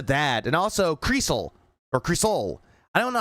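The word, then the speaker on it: Crisol: And also, Creasel, or Creasol. I don't know how it's pronounced. It's how I looked up. It's like Cree and then Soul. How Phil calls it is Crystal. Fucking gay bitch.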